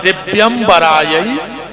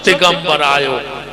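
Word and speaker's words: दिव्याम्बरायै: शुद्ध उच्चारण है दिव्यंबरायै च दिगंबरायो, और आदमी जल्दी जल्दी में बोलत है दिगंबरायै च दिगंबरायो, दोनों बार दिगंबर दिगंबर कहता है।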